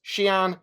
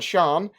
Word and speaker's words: Xi'an: With the xi'an, they pronounce xi'an and xi'an. They're both acceptable pronunciations, the former being formal and the latter being informal ways of saying it.